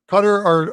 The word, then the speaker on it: Qatar: has Qatar in it, or Qatar, as people will say. The proper pronunciation of it is Qatar are not a threat in this group.